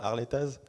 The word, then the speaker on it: Harletaz: Harletaz, pardon, c'est mon côté haut de savoir, on prononce pas les Z.